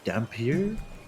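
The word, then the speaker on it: dhampir: she is actually a i believe it's pronounced dampier and how come she's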